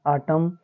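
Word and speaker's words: autumn: तो इसको पढ़ेंगे AUTUM आटम, फिर COLUM कॉलम, फिर DAM डैम।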